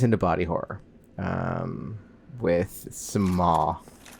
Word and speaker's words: Smough: Um it's smo. We're going to say smo. Um it's not the correct pronunciation. Um because correct pronunciation is just god awful. and um Dutch. And sorry to the Dutch listeners, but sometimes your language does things that make my mouth angry.